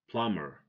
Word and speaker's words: plumber: not Tom - okay plumber plumber the B is silent because it comes after M so don't say come